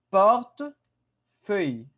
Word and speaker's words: portefeuille: Attention à la prononciation. Le portefeuille. Un portefeuille.